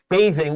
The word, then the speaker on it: bathing: thousands of years ago so we have being bathing with the long a and the th is the voiced th so you can write